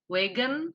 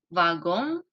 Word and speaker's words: wagon: Dan seperti yang teman-teman lihat, pengejaannya sama dengan bahasa Inggris, tapi dilafalkannya berbeda. Kalau dalam bahasa Prancis, wagon, sementara dalam bahasa Inggris itu wagon.